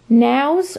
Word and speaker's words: Nao: was four dollars this is a now figurine I think it's just called girl with candle they don't have the titles on the bottoms unfortunately that's what the mark looks like and that's how it's spelled nao they're made in Spain you're